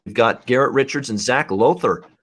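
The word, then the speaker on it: Lowther: garrett richards and zach lother on lauther i think is actually how you pronounce it uh next up uh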